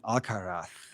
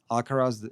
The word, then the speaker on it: Alcaraz: on the BBC, uh, pretty much every single person was saying Alcarath. I don't even know how to say it. I'm sorry that I said it here, but I'm not going to say that. Okay, that sounds so bad saying Alcaras in Spanish way because I don't know how